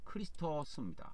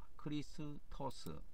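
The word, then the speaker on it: Χριστός: 어 영어로는 크라이스트 어 헬라어로는 크리스토스 크리스토스 이렇게 발음을 합니다 그래서 막 좌우지간 대적하는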